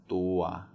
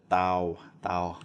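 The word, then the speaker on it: ตัว: So for example, this is pronounced tua. Some people will look at this and say, oh, well, that's a, and this is a W, so they'd be like, tau. That's not right.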